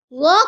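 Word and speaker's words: ظ: This is wo. Kindly read after me. Wo. Wo comes from the tongue, touches the edge of front upper teeth to pronounce wo.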